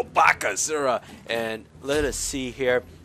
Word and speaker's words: Bakasura: great devour and that's you have to say his name you go Baka zura and let us see